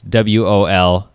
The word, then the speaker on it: Volbert: to be Ronnie Moorings, Anke Volbert, I think that's how you say it. It's Wolbert, and Peter Newton, or Peter Newton.